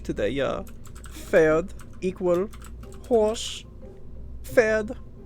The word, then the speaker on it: Pferd: Pferd. Yeah, the P is silent. We call that ein silent letter.